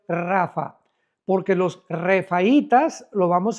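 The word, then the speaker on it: Rapha: R de Raúl ha de Armando, P de Pedro, H intermedia de Armando, Rapa, pero se pronuncia en el hebreo rafa.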